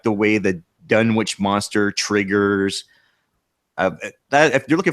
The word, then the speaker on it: Dunwich: I like the way the Dunwich monster triggers.